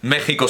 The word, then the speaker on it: México: nosotros también tenemos evidentemente por qué se dice México si se escribe México ese tipo de porque